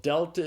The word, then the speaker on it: delta: And so delta is pronounced like the d in the English word dog.